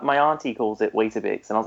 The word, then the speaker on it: Weetabix: It's Weetabix in England. Like Why? terrible. Like it's I know, it's an extra syllable.